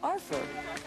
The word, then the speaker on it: R4: His name is R4, pronounced Arfer, and Steve built him out of odds and ends around the house.